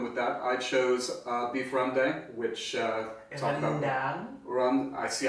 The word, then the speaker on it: rendang: At least you pronounce the E like and then After the some A practice. is like A. Rendang. It's not rendang.